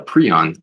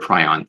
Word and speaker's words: prion: tissue and you have a pron or a prion depending how you want to pronounce it and uh enters into